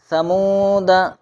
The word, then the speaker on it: ثمودا: ولا اوضعوا، ثمود لکھا ہوا رہے گا ثمودا لیکن پڑھا جائے گا ثمودا، لتتلوا لکھا ہوا رہے